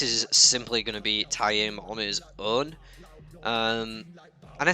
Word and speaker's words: Taim: And I hate that I have to say it like this as well, because I just called him Tame in my head forever. But I've conditioned myself now to say it correctly.